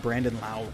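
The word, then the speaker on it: Brandon Lowe: I finally pronounced Brandon Lau correctly. So anyway, but they got Brandon Lau, Willie Adames, Yoshitomo Sasugo, Hunter Renfroe, Randy Arozarena.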